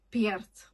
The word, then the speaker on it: Perth: And also I noticed um they're not saying Perth, they're saying "Piert".